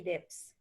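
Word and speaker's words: Debs: railway is beginning informed by age how to pronounce the name eugene v dips eugene feedex and he's in the picture over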